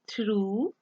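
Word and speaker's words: through: करूं तो वो होंगे थ्रू। में थ्रू में देखें यू जी एच is silent, थ्रू अगर ये ना भी हो तो भी आप उसको थ्रू पढ़ सकते हैं।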